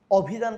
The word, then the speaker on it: অভিধান: অভিধান কখনো আমরা বলি না, আমরা বলি অভিধান।